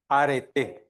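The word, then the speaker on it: Arete: Aret sin H. ¿Cómo se pronuncia?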